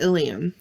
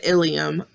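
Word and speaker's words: ileum: female but be careful don't confuse the ilium ilium with the ilium i l e u m meaning part of the digestive system a good way to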